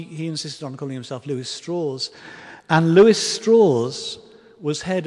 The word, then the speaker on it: Lewis Strauss: here uh it looks like it should be pronounced Lewis Strauss but he he insisted on calling himself Lewis straws and Lewis straw was head of the atomic